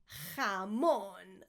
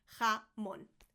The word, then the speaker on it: jamón: Jamón, not jamón. I get palpitations every time somebody says jamón, or even worse, jambon, and they say it in French.